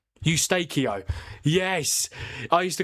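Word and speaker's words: Eustáquio: How do you pronounce that guy's name? Ustakio.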